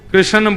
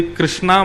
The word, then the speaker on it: कृष्ण: लाल की जय बंधुओ कई लोग इस नाम को अशुद्ध बोलते हैं कई लोग कृष्ण बोलते हैं कई लोग कृष्ण बोलते हैं कोई कृष्णा बोलता है भगवान का नाम शुद्ध उच्चारण करो नाम क्या है कृष्ण भगवान जय श्री कृष्ण कृष्ण